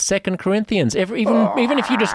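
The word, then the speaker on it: 2 Corinthians: part of the Bible two Corinthians it's not as it's not pronounced two Corinthians it's second Corinthians even even if you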